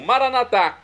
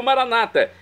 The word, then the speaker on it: Maranata: E agora eu clamo, Maranatá, como dizemos nós católicos, ou Maranata, como dizem nossos irmãos separados, os evangélicos ou protestantes.